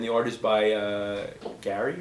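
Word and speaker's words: Garry: AR is by uh Gary or Jerry Gary Gary Brown when do you get Jerry from that it's Prett it's spelled g a r r y and Isaac got Jerry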